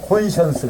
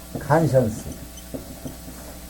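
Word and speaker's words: conscience: 영국식으로 하면 콘션스. 그죠? 그죠? 미국식으로 발음하면 칸션스. 발음이 이제 미국식은 칸션스, 영국식은 콘션스라고 그래요.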